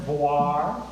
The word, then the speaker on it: VOIR: started with a v um pronounced voir v i r the Venus orbiting Imaging